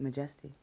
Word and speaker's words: M'Jestie: So I took out the A and put an apostrophe there, kind of hold the space, and pronounced it M'Jestie, and it just kind of felt good.